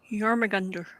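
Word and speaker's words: Jörmungandr: Jormungandr.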